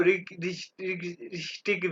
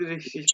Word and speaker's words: richtig: रिश्तिश अब देखो इसको रिश्तिक भी कहते हैं लोग लेकिन इसको ज्यादा लोग रिश्तिश कहते हैं रिश्तिश Richtig.